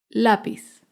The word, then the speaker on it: lápiz: Lápiz es una palabra grave porque se acentúa en la penúltima sílaba. Lápiz.